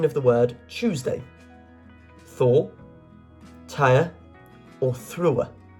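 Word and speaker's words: Týr: the word Tuesday Thor TI or through the correct answer is TI with the accent on the Y there t yr question 25 what was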